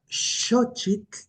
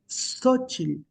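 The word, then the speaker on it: Xóchitl: Por lo tanto, eh por ejemplo, la palabra shoch la mayoría de las personas hispanohablantes pronuncian sochil. Sí, sochil y no shoch.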